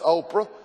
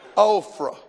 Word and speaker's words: Oprah: oprah i said oprah i know it's oprah but when you want to disgrace somebody you pronounce their name wrong ophra amen we we got